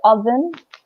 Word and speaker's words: oven: an other year and listen to the pronunciation of this as well because the Oh makes an unusual sound in the wood oven so I to me I think it sounds more likely you oven yeah which kitchen oh